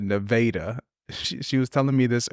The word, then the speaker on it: Nevada: to look look NAA it's like it's spelled Nevada it's Nevada Missouri it's like 8,000 people